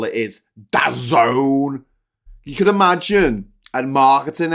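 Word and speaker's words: DAZN: Spotify times water uh saax got it spax dazen no it's it's pronounced this it's pronounced dazone yeah yeah uh I've never heard of it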